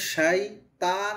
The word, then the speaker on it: الشيطان: এটা যে হচ্ছে শাইতান আর শাইত, তর আওয়াজটা মোটা হবে, আমাদের অনেক সময় হয়তো পাতলা হয়ে যেতে পারে, একটু খেয়াল করে পড়ব।